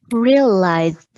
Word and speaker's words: realized: Realized. Yeah, I need the Z and then the D, D sound at the end.